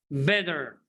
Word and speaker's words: better: me repeat after me better better i know it's written with t letter another name of talk t but in the american english they pronounce t letter b especially between vowels okay so again why